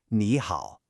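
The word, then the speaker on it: 你好: But when you put two third tones together, the first one actually changes to a second tone, just to make it flow better. So we say it like ni hao, a rising tone followed by a dipping tone.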